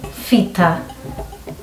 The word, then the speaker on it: Fita: When someone is called Peter, we call them Fita.